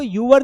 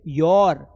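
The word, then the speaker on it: your: इसको यूअर नहीं बोलता बेटा। इसको don't pronounce योर। इट्स योर योर।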